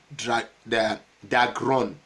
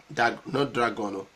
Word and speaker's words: Dagron: Watai, one Alfonso Gumisio Dagron. I will spell it for you. Alfonso, A-L-F-O-N-S-O, Gumisio, G-U-M-U-C-I-O, Dagron, D-A-G-R-O-N. Okay, not Dragon, it's Dagron, other way around.